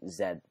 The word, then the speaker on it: Z: it's going to say position Zed or Z however Americans say it position Z or Zed